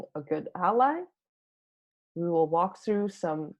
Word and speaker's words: A11y: You can often hear ally pronounced as A11y, and here we said ally.